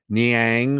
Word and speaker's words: Niang: Bickerstaff continued to play Niang, who couldn't, whose name rhymes with Clang for a reason.